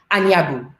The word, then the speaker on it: Anyabu: Yes, we have the gorgeous and the fabulous Priscilla, and let me say it properly, Anyabu.